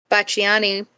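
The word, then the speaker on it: Pacciani: Bachani, that's how you pronounce it.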